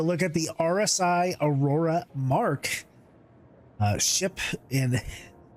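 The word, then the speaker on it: Aurora Mk I: it's review section here I thought the ship used to be called the Marquee uh but I've been saying it wrong for like three years so it is the mark not the Marquee it's the pars Roar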